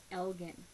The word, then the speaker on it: Elgin: And a lot of people said his name wrong. They say it Elgin. It's Elgin. He is at ROH Michael Elgin.